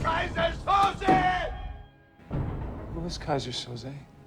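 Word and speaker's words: Keyser Söze: I think the funniest thing was everyone had a different way to pronounce Kaiser Soze. And we just kept laughing. Guys were saying Kaiser Soso, Kaiser Sosa, Kaiser, Yiza. We changed the name Kaiser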